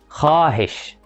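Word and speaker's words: خواہش: حرف الواو لو وقع ما بين حرفين هما الخاء والألف ما بيتنطقش. دي الحالة الوحيدة اللي بيكون فيها الحرف ساكن في اللغة الأردية. الحالة دي جاية من اللغة الفارسية، خاء واو ألف. مثال على كده كلمة خاهش، تمام؟ انت شايف ان مكتوب فيها واو، تمام، بس ما بتنطقش.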